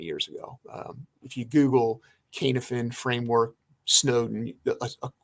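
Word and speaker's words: Cynefin: about this is the canif it's called it's pronounced kanefen c-y-n-e-f-i-n k-n-f-n framework a gentleman named david snowden who was an ibm researcher uh put this out probably maybe 20 years ago if you google kanefen framework snowden like a short 10 minute video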